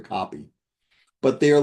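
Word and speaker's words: kopje: They are called coke beads, pronounced pretty close to copy.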